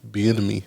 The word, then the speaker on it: Bieniemy: rid of Eric Bieniemy. Is that how you pronounce the last name?